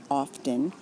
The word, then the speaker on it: often: It's not the same, however, for those who don't pronounce the T. They, it seems, might look down on those of us who say often.